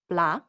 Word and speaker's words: plat: cab it's all connected blah means dish open your mouth and pay attention to the sounds blah notice how the final T is not pronounced that's because in French